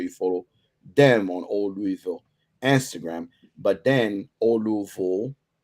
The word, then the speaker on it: Louisville: I'm trying my best not to say it like the French way, but it's old, Louisville.